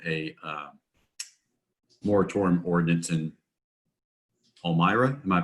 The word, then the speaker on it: Palmyra: on based on a uh moratorium ordinance in palmyra am i pronouncing that right yeah palmyra you don't know yeah yeah don't want to